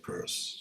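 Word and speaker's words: Peirce: absolutely okay not not Pierce people often say Pierce but he pronounced it purse okay it's one of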